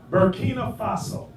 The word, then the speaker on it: Burkina Faso: Burkina Faso.